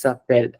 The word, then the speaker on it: s'appellent: So we will call this suppel, regardless whether there is ENT at the end or not.